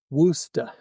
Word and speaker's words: Worcester: How's it pronounced in Boston? Woosta.